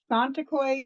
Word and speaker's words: Tsonetokoy: where you are located roughly okay so it's santa coy so um i kept my maiden name